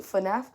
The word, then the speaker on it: FNAF: FNAF.